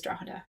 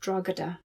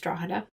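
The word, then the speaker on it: Drogheda: me the most was he mispronounces Draada. So he calls it Dragodada. And so if you're an eminent scholar of Cromwell and you're talking about or you're making a judgment about how significant his actions in Ireland was, my question is how do you not know how to pronounce Drawa?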